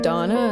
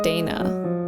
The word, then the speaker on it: Dana: differently in the throughout some people say donna and some say dana so i've probably used